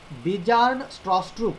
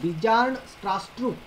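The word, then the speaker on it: Bjarne Stroustrup: रही थी कि वो बंदे का नाम आपको प्रोनाउंस नहीं करते आ रहा है। ये नाम है उसका बिजान, बिजार्न स्ट्रॉस्ट्रूप, उसको बोलते बिजार्न स्ट्रॉस्ट्रूप।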